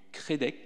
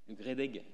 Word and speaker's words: GREDEG: d'Azur, donc Nice, et qui est membre du CREDEC. C'est bien comme ça qu'on prononce ? GREDEG.